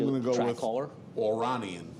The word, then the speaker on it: Oranian: Oranian, because it's Aura and double N, so I'm going to say Third foal from Oranian.